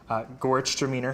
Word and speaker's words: Gewürztraminer: Gewürztraminer, for those who are paying attention.